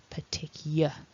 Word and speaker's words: particular: we've got yeah um this is the part of the word that usually causes problems for people if they are reading it as it is normally written um the year sound often gets lost so just be aware of that the particular and then